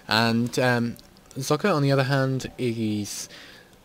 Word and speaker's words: Socke: I'm going to go with Socke because, well, he's German, so I think that's how you pronounce it. Yeah, because S is Z in German and they don't have silent E's.